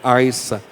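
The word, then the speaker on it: عيسى: de ai sa descreve seguir essa mais a pronúncia correta a essa é Jesus em árabe e quando o filme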